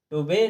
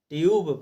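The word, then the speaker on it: tube: ई दिया है, तो इसे भी हम टुबे ना पढ़ करके ट्यूब पढ़ेंगे। क्या पढ़ेंगे दोस्तों, ट्यूब, क्योंकि नियम ने हमें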